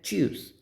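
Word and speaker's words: tschüss: German word होता है चस उस मतलब होता है उसका बाय बाय सो उसमें ये वर्ड्स आते हैं टी एस सी एच और उसको प्रोनाउंस क्या करते हैं च वैसे ही एस सी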